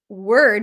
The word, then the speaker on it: word: And funnily enough, the word word with the letter O is pronounced with almost as if there is no O.